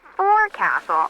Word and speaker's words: forecastle: of a sailing ship, but it's pronounced forecastle. Why's that? Try pronouncing it like an English sailor with no formal education. Forecastle. Forecastle. Over time it whittled down.